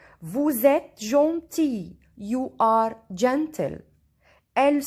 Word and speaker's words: Vous êtes: Vous êtes. Here S. When we join S to E, we listen Z. Vous êtes.